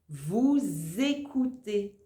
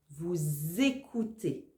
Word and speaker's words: vous écoutez: vous la réponse est vous écoutez là aussi tu dois faire la liaison vous écoutez e Z ça fait